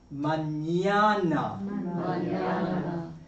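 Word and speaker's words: mañana: When you see it with a little tilda on it, it's going to be pronounced more like So canon canon manana sor ano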